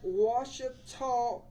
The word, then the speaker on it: Ouachita: Right, That's Ouachita Yeah, that Parish, was yeah, pretty good Ouachita. this time. Pretty good. That's this week. pretty Wichita, good. Thumbs Ouachita.